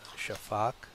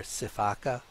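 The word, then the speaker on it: sifaka: is a shaaka actually the word can be pronounced several different ways uh sometimes it's called shafak or cak or caka or shaaka and uh I learned it as shaaka so that's what I'm going to say now their legs are so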